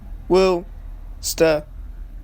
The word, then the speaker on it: Worcester: Yes, I did my research on how to pronounce that damn location. Worcester.